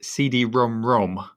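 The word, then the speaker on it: CD-ROM²: tell you how to pronounce that it's actually pronounced cd-rom rom oh yes i remember that from a previous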